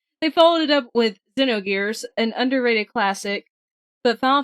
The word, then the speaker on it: Xenogears: Well, I'm actually pretty sure, according to Scoot here, it's pronounced Xenogears.